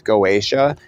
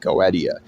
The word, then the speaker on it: Goetia: They think it's Goetia, and it makes them sound absolutely fucking ridiculous, because here's a free magic secret. If people are saying Goetia, they don't know what the fuck they're talking about, because it's fucking pronounced Goetia. It was, I believe it was a Greek thing originally, perhaps Latin.